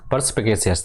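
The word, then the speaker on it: perspicacious: इसको प्रोनाउंस इसको ब्रेक करके बोला करो ऐसे परस्पगेसियस पर्सपेसियस ठीक है तो परस्पगेसियस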